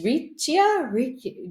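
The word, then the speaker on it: riccia: they had these rich Richa do you know what is it um I don't know is r i c c i a I'm probably not saying it correctly do you know what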